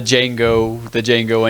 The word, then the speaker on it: Django: Oh, They just that's Reminds me of the Django Unchained Yeah. one. Okay. It's like, what's your name? Django. How do you spell it? DJANGO. The D is silent.